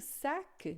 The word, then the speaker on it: sac: O sac, né? Se tiver no final, às vezes a gente pronuncia esse C com som de Q, né?